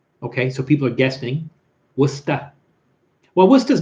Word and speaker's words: Worcester: You are correcting my pronunciation on Worcester. Oh, that's right, Worcester.